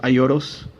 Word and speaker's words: Aioros: euros well actually spell iolo's iolo's i don't know how you pronounce it in English but if you know in Japanese pronounced the L like an R so it's actually a euros that's why and I